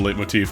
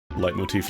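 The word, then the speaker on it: leitmotif: ravenous for the freedom late motif now. Light motif. Light motif. I always forget how it's pronounced.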